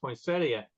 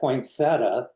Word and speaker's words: poinsettia: all say it's pronounced poinsettia and uh Johnny Carson will come back and other experts say you're fired. Yeah, growing up we always said poinsetta without noting the I which is my